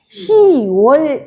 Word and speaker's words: 시월: 우리 이거를 뭐라고 읽어요 10월이 아니라 시월 이러잖아요 그래서 시월 이렇게 유월